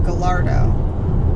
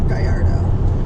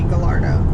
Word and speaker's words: Gallardo: years in college and the double l is pronounced l so it'd be gallardo not gallardo unless it's a spanish